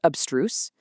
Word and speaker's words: abstruse: Pronounced abstruse, also an adjective.